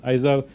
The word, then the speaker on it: Izar: My name is Izar, pronounced Izar, but you can call me if you want.